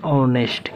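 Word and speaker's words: honest: इसका उच्चारण कैसे होता है उसके ऊपर डिपेंड करता है। इसको पढ़ते हैं ऑनेस्ट।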